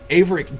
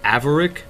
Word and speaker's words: Averic: our good friend 13 referred to uh aick as aarick and that is actually the wrong pronunciation and I'm sorry that